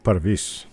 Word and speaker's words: Parviz: And though some of you might think it's Parviz or Parvis, he actually pronounces the name Parvis.